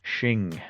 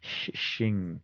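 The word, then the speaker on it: Hsin: to give that to Shing Shing is it's spelled HS which was really confusing and I looked it up and it's like he's like shing sounds for a sword like Shing.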